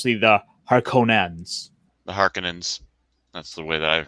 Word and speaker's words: Harkonnens: The Harkonnens.